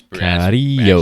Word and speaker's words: Carrillo: That's Carillo. actually not bad at all. LL makes a Y sound in Spanish. There we go. Padilla, Carillo. El Padilla Carillo. At least I didn't say it like Carillo.